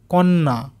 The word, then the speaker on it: কন্যা: তারপরে দেখো ক দন্তন্বয়ে জফলা আকার কন্যা, তাহলে এইটাকেও আমরা যদি আস্তে আস্তে উচ্চারণ করি কন্যা, কন্যা।